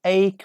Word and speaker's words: ache: Yes, ache. We don't pronounce E.